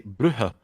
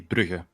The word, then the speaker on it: Brugge: Now in some parts of the country they say Brugge. So yeah, they some places also pronounce it like that, but I say Brugge.